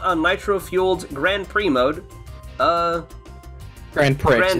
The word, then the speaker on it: Grand Prix: Grand Prix. It's pronounced Grand Prix.